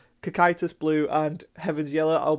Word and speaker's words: Cocytus: blue deck itis which I've learned how to pronounce now sorry that I kept calling it caucus Cocytus blue and heavens yellow I'll be doing a